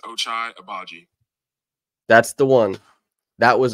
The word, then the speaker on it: Ochai Agbaji: People that don't know my name and how to say it, it's pronounced Ochai Agbaji.